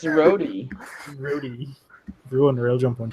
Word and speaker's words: roti: America is talking about, Rudy, aka Ruti. Shook it up, American woman pronouncing it wrong. What she call it? Rudy? Rudy, as in R-O-D-I. When it obviously have a T in it. It's Rody.